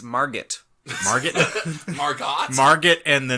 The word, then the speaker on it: Margot: It's a Margot Robbie vehicle and a Will Smith picture. Sorry, you mispronounced it. It's Margot.